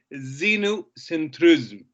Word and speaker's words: xenocentrism: so this is called xenocentrism xenu it doesn't begin with z it begins with an x but pronounced as a z okay some students were